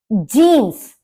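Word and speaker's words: Jeans: पर भी जीनस है जींस को जर्मन में जीनस ही बोला जाता है यहां पर ये नहीं कि जे है तो इसको या की तरह उच्चारण हो न हो जाए वो नहीं है क्योंकि या शुरू में नहीं बोला जाएगा को तो दोनों में आपका प्रोनंसिएशन सेम है जर्मन में भी और इंग्लिश में भी जींस लाफ आन सूख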